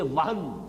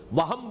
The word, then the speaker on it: وہن: وہن، ویسے یہ کہ تلفظ میں وہم جو ہے میم کے ساتھ، یہ چونکہ ہمارے ہاں عام طور پر لفظ استعمال ہوتا ہے، آپ کو مغالط کرنا ہو، یہ نون کے ساتھ ہے وہن، اور وہن ہی سے